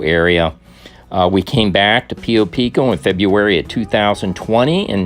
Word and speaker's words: Pio Pico: This is another vantage point of the Pio Pico Thousand Trails Campground. Pio Pico is the correct pronunciation, Lou.